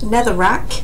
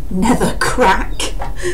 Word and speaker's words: Netherrack: corrected me saying that I pronounced Netherrack as Nether back in my last video